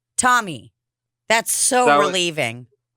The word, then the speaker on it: Tomi: pronounce your name is it tomi or tommy tommy tommy that's so relieving it's pronounced the way americans spell t-o-n-y it's just